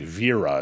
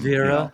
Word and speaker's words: Wera: And that's Wera, I believe, right? For people that Yeah. I think it's I think it's like Viera is actually the how you pronounce it, but I I'm Viera?